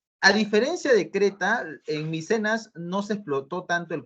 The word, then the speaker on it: Micenas: Micenas no, Micenas. Como ves en la imagen y como te estoy escribiendo acá, así se pronuncia. Micenas, ¿ya?